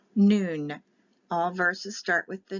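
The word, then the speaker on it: nun: the next letter is n and this is pronounced noon it's spelled n-u-n but it's n for the letter n and it's pronounced noon all verses start with the noon letter the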